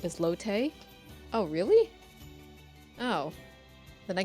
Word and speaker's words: Lotte: Yeah, they had it's Lotte.